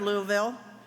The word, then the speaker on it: Louisville: and welcome to Louisville have you learned how to say Louisville yet this is always the big thing all right so it's three syllables it's very easy repeat after me Luke uh vault Louisville good yeah act like you got some marbles a little bourbon in your mouth it's easier to say so Louisville welcome to Louisville